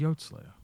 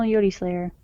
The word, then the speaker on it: Yodi Slayer: See, I always thought it was Yod Slayer. I don't know. Anyway, it's not. He says it on his channel, Yodi Slayer.